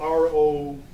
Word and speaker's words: Rococoa: like pirates squash buffalos it's based on the word rococo which was a style of architecture that was very popular in france i believe during that time came out to baroque and it's spelled r-o-c-o-c-o but us being who we are we put an a on the end of it so it's rococo you know so uh again